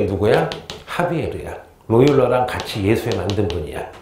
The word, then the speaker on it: 하비에르: 옛날 교과서에는 사비에르라고 나와 있거든요. 근데 이분이 이게 스페인어인가 포르투갈 차이인가 봐. 그래가지고 원어 발음으로 한 2년 전까지는 사비에르 신부님 나오는데 지금은 사가 아니라 하비에르 신부님.